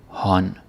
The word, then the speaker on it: hånd: The D is silent. A lot of silent Ds. That's just how we are.